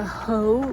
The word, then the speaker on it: Hoh: Today I'm visiting the HOH Rainforest, that's spelled H-O-H.